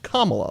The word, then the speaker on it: Kamala: all over the place her name is is actually pronounced kamala like the punctuation mark kamala um justice sotomayor